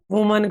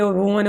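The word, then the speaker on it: women: ऐसे मैन का एम हो जाएगा, वुमन का ये वुमन हो जाएगा, वैसे वीमन होता है राइट प्रोनाउंस।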